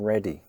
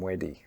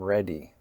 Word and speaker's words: ready: muzzer, and a native Cantonese speaker will often mispronounced it as a D sound: my mudder, my brudder, my fah-der. The R: I'm ready.